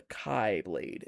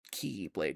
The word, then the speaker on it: Keyblade: The Kai Blade, if you will. He said Key or Kai, depends on how you want to pronounce it. It's Keyblade, because it's the true Keyblade.